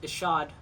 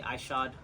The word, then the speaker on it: Ishod: It's actually pronounced Ishod, but I know a lot of people say Ishod.